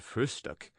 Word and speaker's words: Frühstück: the word breakfast, but always call it frühstück, with especial emphasis on the first syllable.